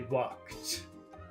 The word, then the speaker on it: walked: in the past they walked that's difficult for people to pronounce you have to do three steps walk stop T walk T walk walked that's very difficult for